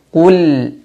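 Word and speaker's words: قُلْ: sehingga terjadi jedak ya jangan baca Qul A tapi Qul a Qul a kemudian hamzahnya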